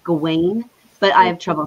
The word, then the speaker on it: Gawain: gawan's life because and and and i'm saying gowan it's often pronounced gawain but i have trouble saying that because i